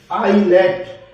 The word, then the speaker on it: islet: ISLE, आईली, S साइलेंट रहेगा, ISLET, आईलेट।